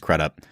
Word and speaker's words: Crudup: now too and I'm I'm pretty sure that's how he pronounces his last name I've heard crudup I've heard kup but I think it's kup we haven't talked about